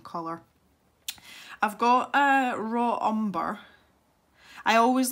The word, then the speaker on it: umber: So yeah, I'm going to take some raw umber. Every time I say umber now, it reminds me of one of the bloopers when I said umper, as in rhymes with jumper.